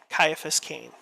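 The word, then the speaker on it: Caiaphas Cain: uh Caiaphas Kane uh that's spelled CIA a p h a s c a i n Caiaphas can um and uh you'll probably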